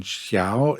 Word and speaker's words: Xiao: and the X in Xiao is pronounced some similar to something between s and Sh so it's not sh and it's not s or S but something